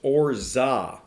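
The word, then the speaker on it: orgeat: want to get it it is orge it's pronounced orza so we're going to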